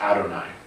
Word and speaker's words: Adonai: It's pronounced Adonai, at least in modern times.